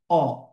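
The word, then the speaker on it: ho: এই যে এইচটা আছে ওরা এইচ এর উচ্চারণটা করে না, ঠিক আছে? তার মানে ধরেন এইচ এর উচ্চারণটা যদি আমি না করি তাহলে এটাকে কি বলে? অ।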